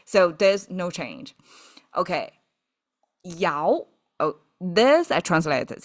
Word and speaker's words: 爻: imagery by that time I didn't know this pronounced as yao and I didn't know it means interaction it